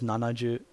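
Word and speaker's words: 七十: i've ever heard either so for 70 the number 70 you normally hear is nanaju 70 so nanaju seven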